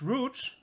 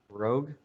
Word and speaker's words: Rogue: It's called Rouge. And Say that again. It's called what? how you pronounce it? Rouge or Rouge? Rogue. Rogue. Rogue, exactly.